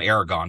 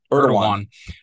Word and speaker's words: Erdogan: supposed to go, the as we've been watching Erdogan, or however you say his name, I call him Aragon, but I know that's not Erdogan.